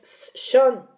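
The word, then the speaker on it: Sean: hijo John Lennon es son se escribe este ya sé que se escribe s e a n pero se produce a donde vivían y ella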